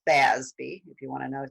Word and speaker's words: FASB: board which we call fasbi if you want to know so it's fa when you pronounce it it's usually more like f-a-z-b-y i actually had a